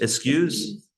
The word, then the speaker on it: eschews: A life that shuns, how do you pronounce it? Eschews? Is that how? Excuse? Eschews?